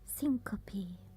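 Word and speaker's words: syncope: But how do you pronounce it? Syncopy.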